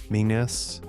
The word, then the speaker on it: Menzies: Older Scots had a letter English lost, the yogh, written like a curled three, sounding roughly like a Y. Menzies was Menyeis, a Scots form of the Anglo-Norman Manners.